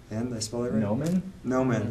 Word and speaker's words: Gnomon: It's Gnomon. Did I spell that right? Gnomon? Gnomon. Like a gnome?